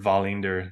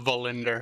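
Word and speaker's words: Wallinder: Mazer cross handis uh Wallander or volender if you will edvinson Johansson I think yo that's how they say it Greg don't give me that no I I will not valinder I will win going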